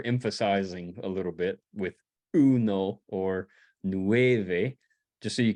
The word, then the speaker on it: uno: up the number one if it ends in a vowel you tend to put the emphasis on the the second to last syllable which also could be the first syllable like in Uno everybody say uno uno the first the first word in in bold there which is the number one in Spanish the emphasis is on the EU no Uno okay nueve autolos examine